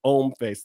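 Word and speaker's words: Hom Face: Even though it's Om Face, the H is silent. It's HF.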